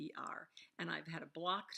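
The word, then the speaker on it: Chittister: The last name is Chichester. Chichester. I can't pronounce it. It's Chitttister, and I've had a block to that name ever since I've heard it.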